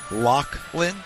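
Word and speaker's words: Loughlin: Now, I spell my name L O U G H L I N. Lachlin, which I think is the proper way.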